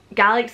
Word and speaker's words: Gaelic: Gaelic's the right way to say Scottish Gaelic, but I said Gaelic.